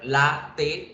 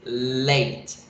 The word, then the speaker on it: latte: Si yo la leo en español, latte tiene dos sílabas, pero en inglés la pronunciación es late, late, late. Tiene una sola, late.